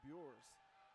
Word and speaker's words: Bures: And they've got it with Bures, excuse me, Bures is the correct pronunciation of that name.